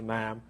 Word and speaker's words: ma'am: and royal protocol, calling Her Majesty her ma'am, rhyming with ham. Ma'am like ham.